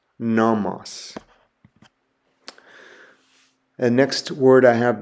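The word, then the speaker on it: νόμος: The next letter is a nu, and a nu makes an N sound like the word nail. The example I have there is the word for law or instruction, and it's pronounced nomos, nomos.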